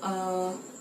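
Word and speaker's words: へ: Kemudian untuk partikel e yang berarti ke itu ditulis menggunakan hiragana he.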